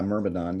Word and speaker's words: Myrmidon: villain or miramadan if i can if i'm pronouncing that correctly yeah myrmidon yeah it's um the word mermadon i don't